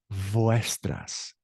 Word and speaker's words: vuestras: And it sounds like a B as in boy, because the V and the B have the same pronunciation. So it's not vuestras, it's vuestras notas, vuestros amigos.